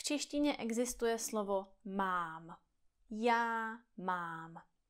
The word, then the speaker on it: mám: Takže například v češtině existuje slovo mám. Já mám. Je tam jedna slabika, jeden vokál. A mám.